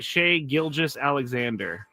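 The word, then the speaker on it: Shai Gilgeous-Alexander: is SGA still but how do you say his name SC Shay gilis Alexander there you go good job yeah you're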